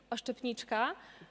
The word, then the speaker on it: oszczepniczka: The right way to say that I'm a javelin thrower in Polish is oszczepniczka, but it is sadly very common that a lot of journalists say oszczepistka, which is this is sad and sad only, honestly.